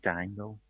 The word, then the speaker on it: dango: Dango.